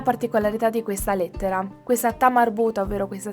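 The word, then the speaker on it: تاء مربوطة: Questa lettera generalmente ha suono A, ma nel momento in cui la parola che termina con la lettera ta marbuta si trova all'interno di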